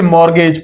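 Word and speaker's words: mortgage: तो माई मॉर्गेज, यहां पर इसके जो सही स्पेलिंग है वो ये है, और यहां पर टी साइलेंट है, बाकी से मॉर्गेज पढ़ते हैं।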